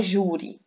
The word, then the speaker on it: júri: de decorar por exemplo na palavra júri júri ela é uma paroxítona a sílaba mais forte é o Ju ela é ou não